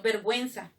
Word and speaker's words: vergüenza: Por ejemplo, vergüenza. Si no dijéramos vergüenza, entonces no es cierto. Tengo que colocar los dos puntos para que suene la U y sea vergüenza. Por ejemplo, desagüe, ¿no es cierto?